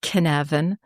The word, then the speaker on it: Cynefin: But the word Cynefin in Welsh, which is spelled Cynefin and pronounced Cynefin.